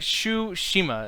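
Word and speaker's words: Tsushima: it but it's like it's like shoe Shima it's like think of like a shoe but problem is the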